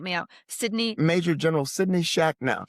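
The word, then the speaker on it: Shachnow: And I'm not sure I'm going to get this pronunciation right, so help me out. Major General Sidney Shacknow. Shacknow.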